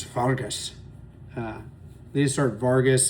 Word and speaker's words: Vargas: Vargas, that's how you say it in in Switzerland is Vargas.